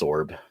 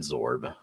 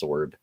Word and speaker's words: Sorb: Is it sorb? Yeah, it's sorb. Not zorb. You kind of say it like that because you say absorb, but it's it's sorb.